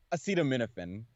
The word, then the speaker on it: acetaminophen: Acetaminophen. That's how it's pronounced.